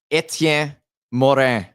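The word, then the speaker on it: Étienne Morin: Etienne Morin.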